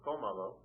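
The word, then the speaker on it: cómalo: So you have comalo, and I'll repeat the rule again.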